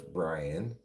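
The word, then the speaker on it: Brien: So, yeah, they're talking to the executive chef Brian Kusinski. Except his name Brian is spelled B R I E N. That's not how you spell Brian. That's how you pronounce Brian, but not how you say how you spell it.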